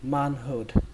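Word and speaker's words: manhood: Các bạn đọc là man hụt, man hụt.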